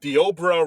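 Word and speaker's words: Deobra: guy his name is De obra Ren I had no idea the person's name okay yeah it looks like it looks like it's spelled Deborah but it's de obra yeah I'm looking at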